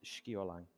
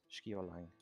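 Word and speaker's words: Sceolang: Pronounced Skiolang. Skip the line. Skiolang.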